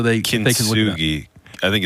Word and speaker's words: kintsugi: Spell it so they can look it up. Kintsugi.